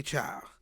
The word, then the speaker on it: Chile: So this has been happening since our first episode, the Chile one, because we say child, and it's spelled the didn't same.